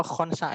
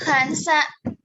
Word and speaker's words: Khansa: Khansa apa Khonsa ini? Dibacanya. Khansa.